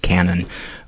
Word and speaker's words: Cannan: michael's last name is spelled c-a-n-n-a-n even though it's pronounced canon uh dude thank you